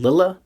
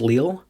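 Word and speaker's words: Lille: that it's actually pronounced Leal you can just cancel out of that because this ain't France and that ain't how you say it guys Believe It or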